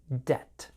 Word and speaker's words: debt: their student loans remember with the word debt the B is silent debt we'll talk more about